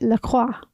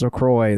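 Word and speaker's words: La Croix: People have told us that it's Lroy. If you're pronouncing it the French way, which is the actual way, it would be Laqua. Everybody who's told us it's Lacroy is white and doesn't speak a second language.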